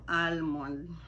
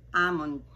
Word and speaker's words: almond: Paborito ko ang almond. Yan po ay we drop the L at ito po ang pronunciation. Almond.